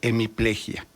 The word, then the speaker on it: hemiplegia: Lo pronuncio como se pronuncia en México, con hiato, hemiplejía. La academia dice que debe ser hemiplegia.